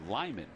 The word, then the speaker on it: Lamar: his home I think it's uh Lyman Colorado is the way you pronounce it yeah when he went